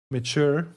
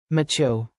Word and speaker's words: mature: Mature. Oh wait, the text-to-speech already read it. Mature. Yeah. Or if you think about nature, It's kind of the same pronunciation, just the first letter is different.